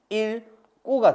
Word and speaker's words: 읽고: 1꼬가 된다고. 리을 기억 뒤에 기억이 오면 예외적으로 얘가 리을로 발음을 하고 기억은 갖다 올려붙여. 그래서 읽고 요런 식으로 발음이 됩니다.